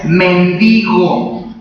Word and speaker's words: mendigo: hubo un mendigo verdad se pronuncia y mendigo cuando tiene un acento en la que se pronuncia de la otra manera verdad pero aquí la palabra correcta mendigo sin acento esa palabra de mendigo